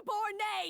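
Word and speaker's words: Debord: Right now, you're a disgrace to my kitchen and to the Hotel Debor name. That's how it's pronounced.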